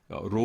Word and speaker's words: Rho: 이건 P 가 아니라 Rho 입니다 .